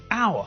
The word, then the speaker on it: hour: when we pronounce it we don't pronounce the first letter so it sounds as though we're saying a word which begins with a vowel it's exactly the same